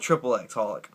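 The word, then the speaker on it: xxxHOLiC: Holic, this is actually, it's pronounced Holic, but it's got 3 X's front, so I call it triple X Holic.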